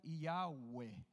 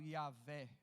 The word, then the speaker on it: Yahweh: Essa palavra ali, ela se pronuncia Yahweh. A gente traz aqui para o aportuguesado Yahvé, mas a palavra é Yahweh.